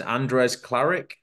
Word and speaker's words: Andres Klaric: asked the name and I forgot how to pronounce it is Andres claric have I got that right that's perfect all